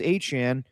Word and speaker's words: Etienne: So if you just say, yeah, my name is spelled ETN, but I pronounce it Travis Achane, then we definitely would have went along with that.